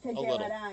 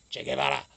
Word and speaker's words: Che Guevara: Well, I kind of like the way Mark says Che Guevara. That is the correct, at least as far as I understand that, I believe that is the correct way to say it if you really want to throw the accente into it. I don't even know if it's accente or not, but I'm probably Spanglishing the word.